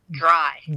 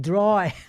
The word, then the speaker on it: Drei: It's Dreyfus Drei. Dry. like I'm hanging the clothes out to dry.